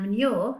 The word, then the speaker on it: manure: words isn't it and manure has got are your sound at the end of it so what is manual